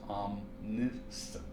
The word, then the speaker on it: omniscient: It's pronounced omniscient.